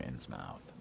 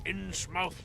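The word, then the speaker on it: Innsmouth: Marsh family from insmouth I still say you should pronounce it not in his mouth if you look at American and or British spellings or pronunciations of words you wouldn't say mouth you'd say muff right like Plymouth Plymouth Rock we don't say Plymouth Rock or Plymouth Rock we say Plymouth right or whatever it might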